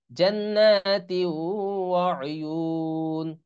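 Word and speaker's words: جنات وعيون: নিন, জান্নাতি ওয়া উয়ুন, জান্নাতি ওয়া উয়ুন। হ্যাঁ, যেহেতু এখানে থামছি এজন্য এই দুই তানভিন উচ্চারণ হচ্ছে না, দুই জের, হ্যাঁ।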